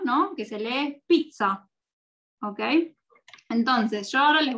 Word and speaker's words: pizza: La pizza, o pizza en italiano, es como una TZ. Pizza. ¿Ven? Pizza. Y es rápida.